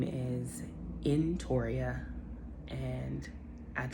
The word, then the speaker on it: Entoria: so let's get started my name is pronounced in Toria nicely all my life